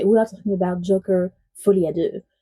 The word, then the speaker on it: Folie à deux: are talking about Joker F ad do I'm French so I can pronounce it correctly I bet it's the first time you heard that correctly this one's going to